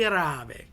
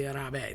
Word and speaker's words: rabe: Um broccoli rabe, right? So, nobody ever says the rabe. They always say rab.